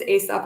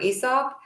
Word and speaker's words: Aesop: one to, she pronounced, I think there are two pronunciations, Aesop or Aesop.